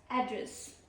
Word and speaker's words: address: So our first word is address. Address. Pronunciation one. What is the first pronunciation? Address. Address. This is distress on first level.